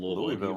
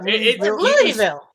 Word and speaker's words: Louisville: Louisville. Say it like you sneeze.